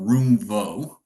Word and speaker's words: Roomvo: Uh, so Ben from Roomvo. Um, did I say it wrong? No, no, you nailed it. You said it perfectly. Roomvo, I'll say the third time there be locked in. So, Roomvo, we've been around for about a decade and